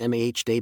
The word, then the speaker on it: Made: I'm in Indonesia, specifically in Bali, and my local guide, let's call him maid, pronounced mah day because yes, I butchered it for three days straight.